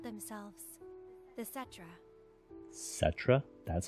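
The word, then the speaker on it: Cetra: They called themselves the Setra. Setra? That's how you pronounce it?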